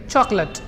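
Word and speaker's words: chocolate: नहीं कर रहा है, प्लस एल के बाद में जो ए आ रहा है इट इज not producing any ए sound, it is producing अ sound. सो इस वर्ड को पढ़ेंगे चॉकलेट। अगला वर्ड, अगले वर्ड को पढ़ते हैं कंफर्टेबल।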